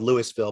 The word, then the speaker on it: Louisville: It's spelled Louisville, but we say Louisville.